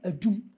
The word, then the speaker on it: Enum: at a place called Enum. Ashanti preserved the name, but because we, by way of pronunciation, have corrupted it, it has become Edum, which is about the most famous part of Kumasi.